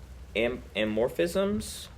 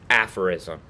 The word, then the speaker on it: aphorism: Let's see how it's said. Aphorism. Okay, aphorism. Where was I at?